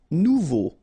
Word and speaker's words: nouveau: Nouveau. Remember, combination of a, and u together, it's o. So you get nouveau.